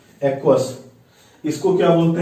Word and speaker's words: aqueous: इसको क्या बोलते हैं इंग्लिश में, AQUEOUS, ध्यान रखिएगा, एक्वस।